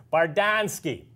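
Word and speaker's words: Bardownski: on Pittsburgh hockey now barred down ski hockey sticks or in Pittsburgh we pronounced it barred on ski tell you what hockey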